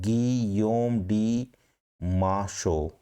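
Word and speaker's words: Guillaume de Machaut: ही was influenced by French masters, French master जो थे जिसके अंदर आप ये कह सकते हो इसका प्रोनाउंसिएशन गियोम डी माशो, गियोम डी माशो, इसका प्रोनाउंसिएशन क्या रहेगा, गियोम डी माशो, जीएन डी मियोन, गियोम डी loris.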